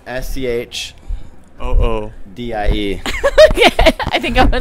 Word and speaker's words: Schoodie: Why don't you check out the site and you can see I can wear the Schoodie as a bag.